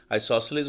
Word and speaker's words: isosceles: was telling you about isosceles we saw in triangles that it means two congruent sides just like the word isosceles it kind of sounds like the word eyes like the ones in your head so you have two